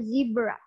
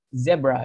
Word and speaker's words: zebra: Di American English mereka nyebutnya zebra. Jadi sementara iya. Sementara kalau di British English kita nyebutnya ya sama dengan gimana cara kita nyebut di bahasa Indonesia, zebra gitu.